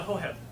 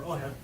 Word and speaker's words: Hoheb: So, the Hoheb, H-O-H-E-B, or Oheb, depending upon how you want to pronounce that.